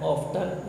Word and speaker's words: often: दादा अक्सर, ऑफन कहते हैं, ऑफ्टन, ये टी साइलेंट है, अक्सर अपने चश्मे को खो दिया करते थे.